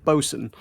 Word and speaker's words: bosun: Aside, is the boatswain not bosun? It's bosun is the slang. It's bosun.